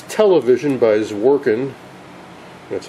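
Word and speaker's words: Zworykin: one that I'm familiar with it's television by zorin that's how you pronounce that Orin and Morton the warin worked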